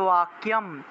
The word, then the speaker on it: বাক্যম: তাই দূতস্য তৎ বাক্যম, বাক্যম এই বটা হলো অন্তস্থ ব, তাহলে উচ্চারণ হবে ওয়া, বাক্যম, বাক্যম।